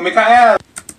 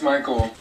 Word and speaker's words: Michael: Thank you, Mikael. Ma'am, it's Michael.